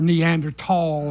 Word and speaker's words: Neanderthal: and they called him Neanderthal or Neanderthal I'm understanding nowadays is the way they pronounce it but but the point